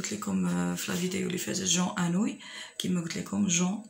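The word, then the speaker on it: Anouilh: Alors, j'allais comme vous pouvez la comme la vidéo, il fait Jean Anouille, qui me goûte comme Jean Anouille.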